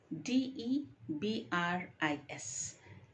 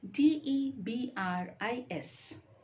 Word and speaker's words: debris: words word number one d e b r i s d e b r i s is it debris no it is debris debris the S there is silent so it is debris